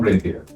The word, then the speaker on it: Rainier: Today we have Steve Schuster from Rainier. Thank you for having me. It's not Reindeer, it's Rainier.